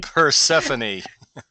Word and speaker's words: Persephone: And many of you might know of the myth with Personifi. Help me out with this one, Leroy. I am not pronouncing words today. Persephone.